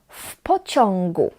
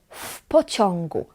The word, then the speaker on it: W pociągu: W pociągu. W pociągu. We pronounce it as one word, and we pronounce w, the W, as f. W pociągu.